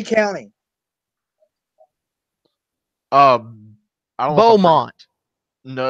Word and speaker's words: Beaumont: I pronounced it right. Besumont. Oh no, it is Beaumont. She misspelled Beaumont.